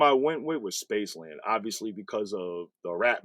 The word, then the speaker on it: spc3lnd: rap name astronaut um so it's spelled different it's spc3 lnd D so the reason I spelled it that way is because it just fits in a license plate seven letters so um obviously space